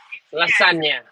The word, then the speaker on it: lasagna: like uh you know the spelling's just like lasagna you're not gonna pronounce that g right la sagna and that's why the